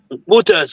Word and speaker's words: Reuters: rendez-vous le 28 avec Reuters ou Router, on va connaître, pas une prononciation bon R E U T-E-R. Routers, ok?